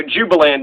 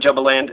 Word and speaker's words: Jubaland: so that's you know jubiland my bad not jumbo land it's spelled jubaland but jubilant they got